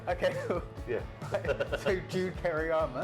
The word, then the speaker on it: Kereama: How do you pronounce it? It's Kereama. So we're going to study it. Okay, cool. Yeah. So Jude Kereama, it's great to have you up at Peru